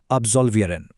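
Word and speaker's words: absolvieren: এই টেক্সট থেকে একটা অত্যন্ত প্রয়োজনীয় শব্দ আমাদের জেনে রাখতে হবে, আর তা হল আবজলভিয়ান। উচ্চারণটা খেয়াল করবেন, আবজলভিয়ারেন।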